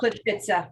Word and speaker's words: Plitvice: fauna of, pardon me, Coral, how do we pronounce that? Which one are you looking at there? Sorry, Plitvice National Park. Plitvice.